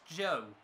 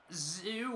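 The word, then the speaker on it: Zhou: And I've heard the guy in fifth is pronounced Joe, not Zoo or Zoe. Supposedly it's Joe.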